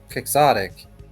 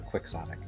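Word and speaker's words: quixotic: So, vid pronouncing uh kixotic kixotic or quicksotic e gosh darn it. I think either it's it's English. show you. I think either one kind of works.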